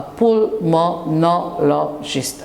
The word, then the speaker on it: pulmonologist: A pulmonologist, a 5 syllables word.